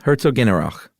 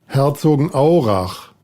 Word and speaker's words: Herzogenaurach: Yeah, Herzogenaurach. It's not exactly said that like that. Here, let's play this. Herzogenaurach. That's how it's said.